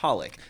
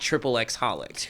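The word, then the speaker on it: xxxHOLiC: It has like 3 X's in front of the word holic, but it's pronounced holic, not triple X holic.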